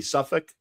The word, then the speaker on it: Suffolk: but as Chris was telling us off the air, it is pronounced the Suffolk. Suffolk.